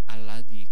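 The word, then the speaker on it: الذي: Tapi tetap bacanya apa? Alladzi, karena bertempat di lam ma'rifat.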